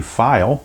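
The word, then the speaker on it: Pfeil: protect you're facing bobby file i guess that's how you pronounce it i'm not really sure but just that's the way i'm reading it that the p is silent all right six three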